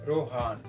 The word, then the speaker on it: Rohan: रोहान नाम का स्पेलिंग है ROHAN, रोहान।